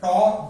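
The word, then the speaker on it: tau: प्रदर्शित किया जाता है टॉ से। इसका प्रोनाउंसिएशन होता है टॉ।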